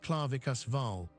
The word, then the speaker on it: Clavicus Vile: a fitful dream of Clavicus Vile, pronounced Claravikus Val, offering a glittering promise should a wanderer surrender his true name beneath the moon.